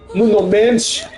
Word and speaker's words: Nuno Mendes: Portugal has, you know, they got uh Bruno Fernandez, uh, Nuno Mendes, or as they say, Nuno Mench is, you know, we have to pronounce it correctly.